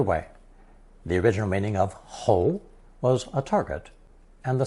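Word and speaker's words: 喉: If we add a mouth radical co to the whole phononetic we arrive at another second tone hole which refers to the throat.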